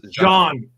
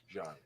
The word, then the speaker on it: Jean: I know, but it's pronounced John.